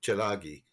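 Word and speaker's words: Tsalagi: Chilagi, you know, Chilagi is basically how the second word's pronounced.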